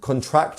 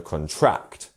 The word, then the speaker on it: contract: So as you can see here, we have our stress syllable on the second syllable. So contract, contract. And that is showing, so here we have contract. And that is showing that the second syllable is our stressed one, and this means for something to get smaller. Whereas if we actually wanted to put the stress on the first syllable, we would have contract, which is another word with a whole different meaning.